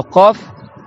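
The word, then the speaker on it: قاف: Le qaf, c'est tout au fond de la bouche.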